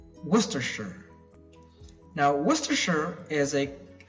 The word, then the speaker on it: Worcestershire: I know I did now this one is pronounced as Worcestershire again whoa stir sure Worcestershire Worcestershire now Wistar sure is a county in western